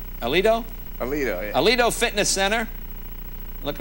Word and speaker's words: Alito: Aleldo? Alito? Alito, yeah.